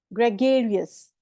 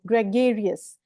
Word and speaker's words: gregarious: GRE को बोलोगे grey, grey, ठीक है। फिर नेक्स्ट बोलोगे गेरियस, ग्रेगेरियस। Repeat after me, ग्रेगेरियस।